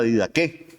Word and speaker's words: Didaché: del primer siglo que se llama la didaké. Se escribe didaché. Pueden buscarlo ahí en internet.